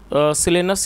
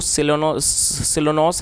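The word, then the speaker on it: Silenus: Once सिलेनस, या इसको शायद इसकी जो करेक्ट प्रोनाउंसिएशन है वो है सिलोन्स, सिलेनस, वंस सिलेनस, जो मतलब कि एक बार जो सिलेनस है, द गॉड ऑफ the woods.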